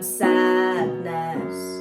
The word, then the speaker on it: sadness: Summertime sadness. Lovely. And you can really use the D in sadness. Although it's not like an active D, is it? Sadness. It's not dness. But you can pronounce it ness.